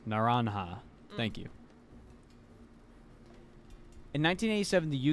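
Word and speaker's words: naranja: Reminder that J is pronounced like an H in Spanish. Naranha.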